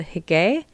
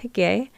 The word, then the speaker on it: hygge: But there's a great practice from Denmark called Hygge. I'm pretty sure I pronounced that right. It's spelled Hygge. Again, it's in the article, but I'm pretty sure it's pronounced Hygge.